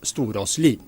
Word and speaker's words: Storaasli: than my own, Olaf Storaasli, or as we pronounce it here in Norway, Olaf Storaasli.